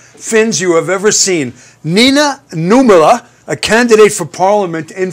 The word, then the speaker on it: Nina Nummela: We have Nina Nummela. Do I get the pronunciation right?